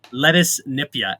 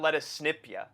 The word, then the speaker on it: Lettuce Nipia: Lettuce Nipia, A. It's actually lettuce. It's not lettuce snipia. No, It's it's lettuce Nipia, A. That is how you say it.